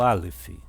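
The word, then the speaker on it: אלף: O Aleph ele é mudo, tá bom? Ele não tem som nenhum.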